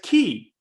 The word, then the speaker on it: quay: But I found out that you're supposed to pronounce the word quay, as I call it quay, as key.